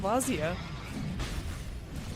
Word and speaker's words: Vazia: It's gonna be a yes, Focus and Vazia, which really does rhyme with Invazia.